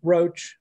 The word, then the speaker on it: Roche: Roche is it Roche or Rock? I've heard two to three different pronunciations for that name, actually. It's just Roche.